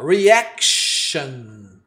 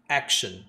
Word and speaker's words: reaction: Ó, reaction. Reação. Olha só a letra R, pronúncia reaction. Olha como é que é fácil. Reaction ou reaction? Esse A é entre o A e o E.